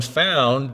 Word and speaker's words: Phound: And the reason we called it Phound, and Phound is spelt with a PH, so it's kind of like the mixture of phone and found, is, the days of